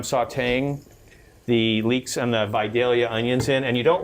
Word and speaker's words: Vidalia: day our Vidalia onions I learned that is how you really pronounce them if you're from the south because I heard somebody recently said say I got some Vidalia onions and the guy said no you couldn't because they're pronounced Vidalia so now I'm gonna